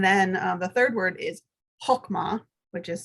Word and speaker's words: chokmah: And then the third word is chokmah, which is spelled C-H-O-K-M-A-H.